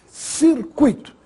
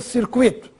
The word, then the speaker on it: circuito: que estaria errado circuito o circuito o circuito é assim que se fala essa palavra circuito nada de dizer circuito e se inscreve sem